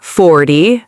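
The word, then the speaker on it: forty: So remember, teen numbers, the stress is at the end. 13, 14. And the 10 numbers, 30, 40, 50, the stress is at the beginning.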